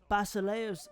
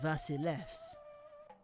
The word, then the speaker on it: Basileus: Well, Basileus would be more in line with the ancient pronunciation. Modern Greek, they'd say it more like Vasilevs.